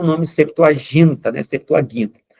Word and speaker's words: Septuaginta: tradução dessa Bíblia aqui, a Septoaginta, tá? Septuaginta, como muitos pronunciam.